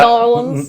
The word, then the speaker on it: New Orleans: But my number one is New Orleans. New Orleans. How do you say it? Nolans? Yeah. Nolans.